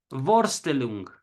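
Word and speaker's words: Vorstellung: mente la palabra alemana borstel long que quiere decir representación y estoy latinizado el alemán no se pronuncia así pero más o menos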